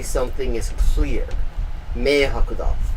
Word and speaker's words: 明白: It's pronounced meihaku with those exact characters, except that you don't use it to say as a verb for to understand.